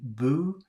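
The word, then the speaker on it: bout: out new and finally we have b-o-u-t boo but then there's bu which is oh that's boo like Boo like a ghost boo but then bu is do 75.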